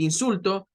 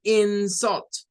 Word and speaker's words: insult: Esta es una peculiaridad de esta palabra y es que se cambia la sílaba tónica. Entonces, cuando pronuncian y quieren decir el insulto, dicen algo como the insult, the insult, the insult, como quien dice el insulto.